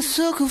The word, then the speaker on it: sucker: By the way, notice that in the song, sucker is pronounced without the typical strong American R at the end. I'm a sucker for you.